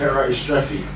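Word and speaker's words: Era Istrefi: How do you pronounce her name? I'm not even going to try. I remember that. Era Estrefi. Okay, David. Era Estrefi.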